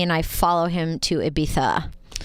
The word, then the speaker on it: Ibiza: Our characters say Ibiza because we're Americans, but it's correctly pronounced Ibiza.